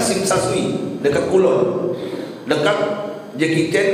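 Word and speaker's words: Tsim Sha Tsui: Tersing Tesa Tesui tulisannya, tapi bacanya Sing Sa Sui, dekat Kulon, dekat Jackie Chan, Andy Lau, Stephen Chow main film.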